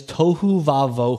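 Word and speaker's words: tohu wa-bohu: in the whole Bible it is tohu vavo who is how you say it out loud it's spelled a little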